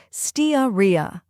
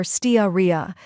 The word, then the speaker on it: Steatorrhea: the correct pronunciation is staria or staria both are commonly used first we have Ste which sounds like Ste in Steam next uh or a